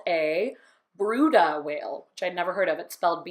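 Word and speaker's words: Bryde: we don't see a lot it's called a bruda whale which I've never heard of it spelled b ry de but it's pronounced bruda so it's a brutal whale they're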